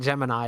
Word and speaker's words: Gemini: criticizing I'm criticizing NASA why would you make it gemin it's Gemini Gemini nobody pronounce it yeah uh but officially it's gemin um which is just